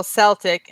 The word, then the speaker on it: Celtic: It's also Celtic and a hard C.